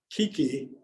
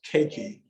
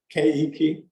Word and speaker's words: keiki: Everyone pronounces this Kiki, but if you run this on native Hawaiian, they'll tell you, no, it's Keiki or Keiki. Oh, how'd you say it? Keiki. Yeah. It's actually 3 syllables, right?